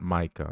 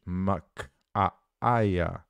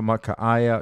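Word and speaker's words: Michaiah: It's not Micah. It's spelled M-I-C-H-A-I-A-H. Micaiah.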